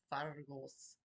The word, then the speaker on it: Phagos: This one is Fargos. Fargos is not spelled like it sounds. Yes, it's Celtic. It's spelled Phagos.